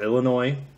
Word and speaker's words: Illinois: offered in California Florida Illinois or Illinois some people pronounce the S Indiana Massachusetts New Hampshire